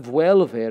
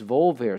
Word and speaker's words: volver: It's not vuelver, it's volver. So nosotros volvemos.